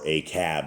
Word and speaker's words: Ahab: in the years of Ahab or aab as they as his proper pronunciation is and um you can